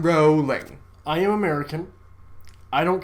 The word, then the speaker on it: Rowling: it's jk rowling jacob it's said rolling not rallying rolling i am american i